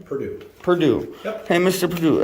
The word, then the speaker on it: Purdue: Purdue.